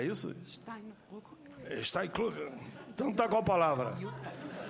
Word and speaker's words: Jutta Steinbrück: Senhora Juta, eu estava aqui querendo saber como é que eu pronuncio aqui agora. Juta, e o sobrenome? Steinbrück. É isso? Steinbrück.